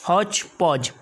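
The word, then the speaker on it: hodgepodge: हौच पौच यहाँ पर हमें मतलब डी को नहीं पढ़ना है, तो हौच पौच, तो ये डी और ये डी साइलेंट रहेगा, तो हौच पौच का मतलब हो जाएगा गड़बड़ कर देना।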